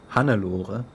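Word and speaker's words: Hannelore: the other thing that's hanelore a former Warrior of Volusia hanur as you pronounce it because that's k a German name once again took up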